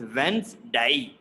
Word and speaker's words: Wednesday: like if you see d is silent d is gone and n e s they are giving like z sound yeah so it is